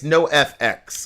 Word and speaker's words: NOFX: NOFX, or how do you pronounce this? It's NOFX.